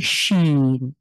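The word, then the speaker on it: شين: করবেন এরপরে যা স্বাভাবিক এরপরে শিন এটা সহজ বাংলা যে তালব স ঠিক সেই স অথবা ইংলিশে এস এইচ এস এইচ কে কি বলি আমরা শ্যাল বা আমরা এরকম আরো অনেক ব্যবহার রয়েছে শ্যাল তো ঠিক এরকম স হলো এটা শিন আর এটা হলো সিন খুবই সহজ বাংলার সাথে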